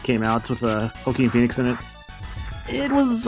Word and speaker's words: Joaquin: I saw like Napoleon movie that like came out with Joaquin Phoenix in it. It was all right. How did you pronounce his name?